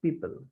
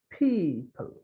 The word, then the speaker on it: people: Here for E, there C, B, people, not people, it's people. Then receive, receive, receive.